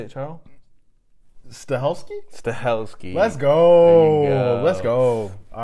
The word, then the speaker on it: Stahelski: Stahelski.